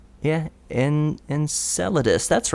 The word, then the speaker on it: Enceladus: organic molecules being discovered on Saturn's watery moon Enceladus am I pronouncing that right yeah in Enceladus that's right more evidence for organic material and